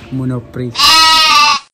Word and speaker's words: Monoprix: The correct pronunciation in French, Monoprix.